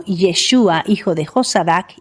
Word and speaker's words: Yeshua: Yeshua es la forma correcta de pronunciar el nombre del Mesías y este nombre terminó